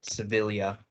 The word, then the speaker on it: Sevilla: Yeah, my mom's maiden name has the double L's, but then we pronounce it Sevilla.